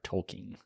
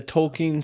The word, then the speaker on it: Tolkien: so that is so on the tolken society they have it pronunciated as tolken um however I have grown up saying it tolken and I know many